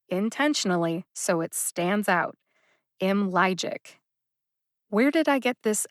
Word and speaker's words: Imlygic: logic down into syllables imlegic has three syllables m logic m logic can you hear the three syllables the second syllable lie gets the emphasis what does that mean